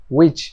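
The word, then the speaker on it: which: মানে কে, মানে হলো ডাব্লিউ এর পরে এইচ হলে এই এইচ এর উচ্চারণ হয় না, ঠিক আছে? তো আমি এতদিন পর্যন্ত এগুলো ভুল বলতাম, আজকে থেকে চলেন শুদ্ধ শুরু করি। আচ্ছা, এটা হচ্ছে উইচ মানে কোনটি।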